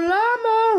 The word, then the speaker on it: Lama: where could Joel be Joe Lama rhymes with drama Okay so wait so